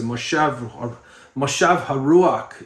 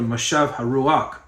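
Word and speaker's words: Mashiv HaRuach: So Moshav Haruach is how they say it in Hebrew, Moshav Haruach.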